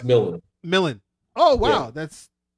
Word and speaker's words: Milne: Dax Milne, if that's how you pronounce it, right? Milne. But there's no I before the L.